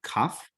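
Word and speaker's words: כף: So with the dot, it is K as in kitty. Without the dagesh, the dot here, it is Ch as in Bach.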